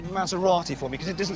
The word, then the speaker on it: Maserati: Can you just say Maserati for me, because it doesn't sound so good in a Birmingham accent? The proper way to say it is Maserati.